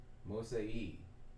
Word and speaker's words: mosei: My baby, mosei, and you gotta and the rules of pronunciation in Nuwabik, when you see two e's like that, two e's, mosei, right?